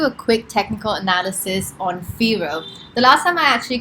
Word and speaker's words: Firo: going to do a quick technical analysis on firo the last time i actually created this video i was calling it phyro and somebody from their team commented mentioning that